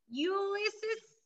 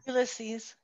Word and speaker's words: Ulysses: President Ulysses S. Grant. I cannot pronounce his first name if anybody knows that. Ulysses.